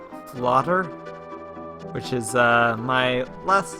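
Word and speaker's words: fläder: Which, fun fact, elder and elderberry in Swedish is pronounced flotter.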